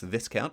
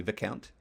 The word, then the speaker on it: Viscount: I did recently learn that it's not pronounced Viscount, it's actually Viscount. I believe it's French, according to one of the commenters.